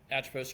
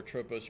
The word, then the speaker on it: Atropus: So, Atropus Group or Atropos Group, depends on how you want to pronounce it, open to interpretation.